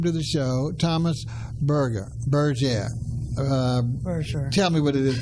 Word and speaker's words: Berger: of the show that although his name is spelled something like the way I mispronounced it, he's from another area, not too far away, and that's the obviously the vernacular and the pronunciation.